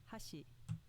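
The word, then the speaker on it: 箸: peach accent example one hashi meaning chopsticks with an accent on the first mora hashi meaning bridge with an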